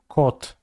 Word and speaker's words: kot: How do you say cat in Polish? Kot. Spell with a K though.